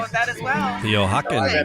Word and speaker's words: Oaxaca: And now we're gonna do it's a 1/4 ounce of the Oaxacan chocolate syrup, right? Ooh, Yeah, that's Oaxacan. Actually, Oaxacan? Sam can probably pronounce it better than me.